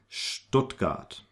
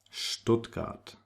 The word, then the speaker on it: Stuttgart: Now the ST combination is pronounced like if there was a little H in between. It's like actually st, Stuttgart, Straße, Stein, Stuttgart, Straße, Stein.